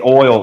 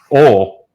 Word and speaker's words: oil: Oil. One syllable. Right, not oil. No. Like foil.